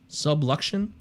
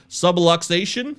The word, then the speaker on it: subluxation: tatis shoulder sublex subluxion how do you say that word subluxion yeah i think so subluxation sublime subluxation anyways he's out i don't